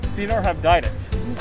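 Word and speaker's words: Caenorhabditis: So it's C-nor-habditis.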